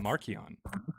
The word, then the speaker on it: Marcion: Uh, I said Maron, which would be how you pronounce Marion back then with a hard C. Kind of like Caesar is Kaiser.